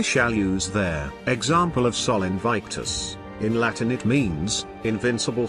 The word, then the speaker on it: Sol Invictus: Now if you'll notice there is a slight bit of inertia when speaking the word, which enunciated would be spelled, Sol Invictus, two words both one syllable each.